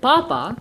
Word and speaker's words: papa: is the first word Papa is Jana so the accent are these sorry the emphasis is on the first syllable papa and that means